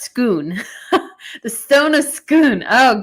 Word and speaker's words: Scone: The stone of scone is pronounced scoon.